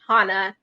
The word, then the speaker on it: Hana: some people saying that it's pronounced Hana in amhara yes so should I